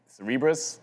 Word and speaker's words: Cerebras: Today is you know Cerebras I'm supposed to say apparently that's the correct way to say it.